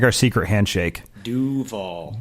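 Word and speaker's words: Duvall: Yeah, get the pronunciation right. We're giving you privileged information here. It's like our secret handshake. Duval. Not Duval. Duval.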